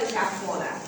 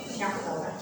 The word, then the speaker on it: Jahoda: es el modelo de Jafoda, ¿no? Se escribe Jahoda, Jafoda, ¿sí?